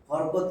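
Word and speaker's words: حركة: তাহলে আমার 2 নাম্বার জানতে হবে হরকত কি জিনিস। আসলে শব্দটা হলো, আরবিতে যদি লেখেন হারাকাতুন, হারাকাতুন, তাহলে আমরা বলি হারাকাত বা হরকত, ঠিক আছে।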